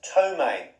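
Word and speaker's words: ptomaine: a poison and that's tomaine the silent p p t o m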